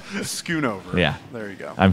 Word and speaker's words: Schoonover: No one ever pronounces my name right. Schoonover.